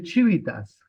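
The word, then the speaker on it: civitas: y polis significa ciudad en latín se dice chivitas solamente se escribe con la no la chivita no pero pero sí se dice así pero pero no se escribe la H sino chivit solamente la c la i la v la i y t y a s chivitas entonces ahí estaría la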